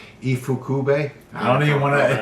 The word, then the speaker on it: Ifukube: How do you pronounce his last name? Ifukube. Ifukube.